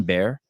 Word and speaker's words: Behr: next evolution in parent how do you say your last name Bear yeah yeah animal okay so I there